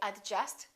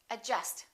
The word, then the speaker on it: adjust: we say y okay silent D adjust don't say adjust say adjust adjective all right silent